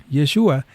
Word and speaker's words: Yeshua: Yeshua se escribe con la letra shin en hebreo, pero el griego sustituye el sonido sh por un sigma s. Así el nombre hebreo Yeshua añade un sonido al final y cambia el sonido